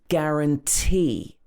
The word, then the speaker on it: guarantee: Other words like guarantee. Again, stress on the last syllable. If a word ends in T or E, often it will be stressed at the end. Guarantee. It comes with a 1-year guarantee.